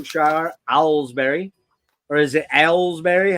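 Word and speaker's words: Aylesbury: 1979 in buckham Shire albery or is it alsberry how do you say it Johnny alsberry alsberry I say ale be yeah Alsbury buckham Shire in 1979 they emerged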